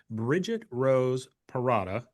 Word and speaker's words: Bridget Rose Perrotta: And we are here with Bridget Rose Perrotta.